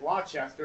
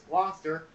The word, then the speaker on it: Gloucester: never pronounce it correctly i kept pronouncing it chester and it's gloucester let's go to gloucester new jersey high school okay thank you gloucester hi and let's go